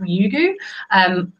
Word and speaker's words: Ryugu: at the moment, called, I think it's pronounced Ryugu. Probably in Japanese it might sound a bit different, but it's an interesting